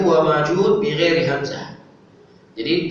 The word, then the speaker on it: Ma'juj: Disebutkan yajma aktsarul qura alla anna Ya'juj wa Ma'juj bighairi hamzah. Jadi sebagian qura, para ahli Quran, mereka membacanya Ya'juj wa Ma'juj, tidak ada hamzahnya.